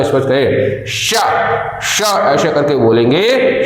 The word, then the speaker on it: श: स्पर्श करती है वे सभी व्यंजन तालव्य कहलाएंगे, उनका उच्चारण स्थान तालु होगा। इसी प्रकार से जब ये श बोला जाता है श, तो हम आप थोड़ा जैसे सा बोल देते हैं, लेकिन इसको इसलिए आपने